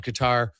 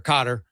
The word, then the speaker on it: Qatar: You had to get up on on Qatar or Qatar, depends how you want to pronounce I think Qatar's actually right way to say it, but either way